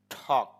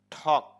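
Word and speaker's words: talk: right রোট written লেখা ঠক এখানে ঠক বলার সময় এল এর উচ্চারণটা হবে না ঠক আর যেহেতু টি শুরুতে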